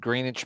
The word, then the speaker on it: Greenwich: And then so in the wintertime, it's called Greenwich Mean Time, correct?